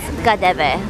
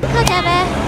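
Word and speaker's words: KaDeWe: So this is actually pronounced as Kadeve. So even if it's spelled as K-A-D-E-W-E, it's called Kadeve.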